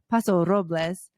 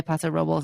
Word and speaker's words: Paso Robles: no he was like well it's really like paso robles but he said people say pasa robles and it's totally fine basically he's trying to